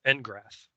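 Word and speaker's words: N'Grath: For the character Engrath. Am I pronouncing that right?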